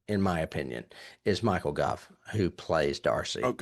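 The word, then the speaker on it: Gough: I've got the His surname is pronounced in the same way as cough. So, it's Goff.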